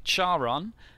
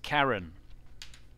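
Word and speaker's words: Charon: might see that name and you might think Sharan that's not actually how it's pronounced it's pronounced Karen so there you go it's actually pronounced Karen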